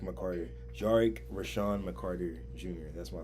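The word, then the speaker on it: Jarec: Jarick. That's how it's pronounced. Yes. It's Jarick McCarter. Jarick.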